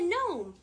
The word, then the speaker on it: gnome: the way i'm a gnome say it with me no it's spelled g n o m e but don't ask me why the g is silent because i have no